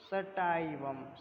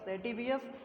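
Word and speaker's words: sativus: हर एक जगह पे इसको अलग अलग तरीके से प्रोनाउंसिएट करते हैं, इसमें आप याद कर लीजिए क्रॉकस सैटिवियस, या अगर आपको सैटिवियस नहीं मिलता तो सटाइवम, ओके।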